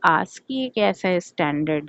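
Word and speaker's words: ASCII: Encoding में है आस्की ए एस सी आईआई। इसे हम आस्की प्रोनाउंस करते हैं।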